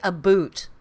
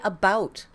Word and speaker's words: about: know is different about we don't say a boot we do not say a boot i say about it's about about have